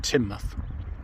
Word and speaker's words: Teignmouth: ends up in tin muth so it's pronounced tin at the end so it's teen tane and tin and just to add